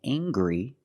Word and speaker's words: angry: Anger is a noun and angry is a description. I can say he's very angry. We use the nasal sound M plus the hard G. Angry.